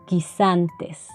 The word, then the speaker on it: guisantes: La letra U no se pronuncia. Por ejemplo, guerra, guisantes.